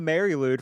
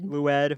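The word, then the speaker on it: Mari Lwyd: the maryloud from wales they say that right mary lou i think it's loud lou ed okay it's very it's spelled m-a-r-i space l-w-y-d because you know the welsh they just don't believe in vowels this is a strange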